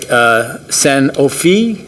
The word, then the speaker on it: Sanofi: And I'll get this right, Sanofi, which is, as I was told I pronounced it correctly, did their groundbreaking, which is